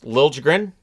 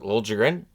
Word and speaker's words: Liljegren: Liljegren. Yes, that's how he pronounces it. Liljegren.